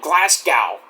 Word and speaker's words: Glasgow: now get her name right it's like saying Glasgow it's Glasgow not Glasgow it's Glasgow Scotland just looks like it's pronounced Glasgow Glasgow it's glasgo glasgo any all